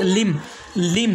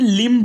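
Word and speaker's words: limb: जैसे पहला वर्ड्स लिम, दूसरा वर्ड है कॉम, तीसरा वर्ड है टॉम और चौथा वर्ड है बॉम्ब, इसके बाद में थम, उसके बाद में क्लाइम। यानी इसे हमें लिम्ब नहीं पढ़ना है, कॉम्ब नहीं पढ़ना है,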